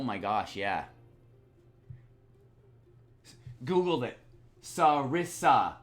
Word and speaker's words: sarissa: Sarissa, like you said. Okay, Sarissa. Yeah, okay. Thank you for Googling that. Sir Finnis, I appreciate that Google there. Sarissa. Okay, I was pronouncing correctly. Sarissa.